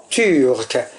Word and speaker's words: turc: un adjectif masculin qui se termine par un C prononcé, prononcé. Et donc, au féminin, on dit c'était une turque. On remarque que le C du masculin s'est transformé en que au féminin. Pourquoi? Parce que le C se prononce K.